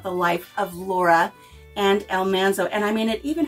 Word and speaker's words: Almanzo: you may say country Mama you're saying his name wrong it's Almanzo it's not Almanzo I've even heard a voice recording of Laura Singh his name as Almanzo that's why she called him manly it was Almanzo so this was originally printed in 1980 and